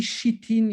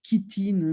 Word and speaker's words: chitine: Je dis chitine, il y a des gens qui disent chitine, mais on ne comprend rien. Comme ça s'écrit chi, je dis chi, j'en ai marre.